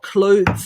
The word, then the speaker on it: clothes: simplify it for you we've got cl cl oh khloe that's right chloe then we've got the th sound but it's the vibration